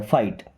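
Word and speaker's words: fight: क्या होता है लड़ना यहां पे जी और एच साइलेंट है फाइट ही कैन फाइट वो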